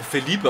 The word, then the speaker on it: Philipp: Wird eigentlich auch Philippe ausgesprochen, nicht Philippe, aber egal.